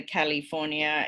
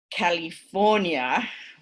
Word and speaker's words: California: So as long as Arnie says California, right, so the primary stress on the word is correct, the lack of the schwa in California is not going to cause the intelligibility problem.